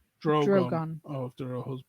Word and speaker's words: Drogon: It's pronounced Drogon.